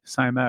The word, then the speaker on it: Psimet: It's PSIMET, Simet, I think it's pronounced. Yep.